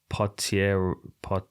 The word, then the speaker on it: Potieria: Potieria.